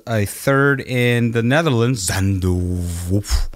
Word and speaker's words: Zandvoort: Zandvoort. How do you pronounce that track name? I don't know. PJ? Zandvoort.